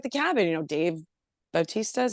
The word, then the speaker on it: Bautista: a knock at the cabin you know Dave Bautista is how you say his name you know